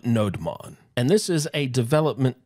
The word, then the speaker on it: nodemon: called nodon and actually there isn't any uh official way to pronounce it it looks like node Monon like node monitor but some people pronounce it as noemon some people pronounce it as no demon I mean there's different ways that we can pronounce it you can choose how you want to pronounce it I call it nodon and this is a